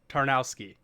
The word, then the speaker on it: Tarnowski: how to say it right in the intro tarnowski yeah okay i'll have to listen to this